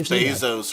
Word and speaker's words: Bezos: he's a great business guy Jean you always pronounce Bezos wrong Bezos not Bezos what it's 5 AM